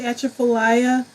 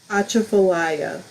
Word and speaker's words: Atchafalaya: Accent the second syllable. Achaf Achafalaya. How's that? Achafalaya.